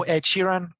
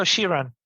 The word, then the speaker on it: Shiran: name by the way how do I properly pronounce it so um shiran right you know Chiran yes so shiran and now I have a reference yeah so Chiran whitesman whitesman because that's not what I would